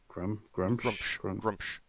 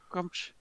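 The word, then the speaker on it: Gruumsh: Grumsh. Yeah. Grumsh. Yeah, it's one syllable.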